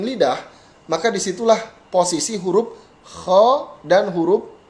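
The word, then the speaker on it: خ: Nah, kha dan gha ini bukan ho atau gho, tetapi kha, gha.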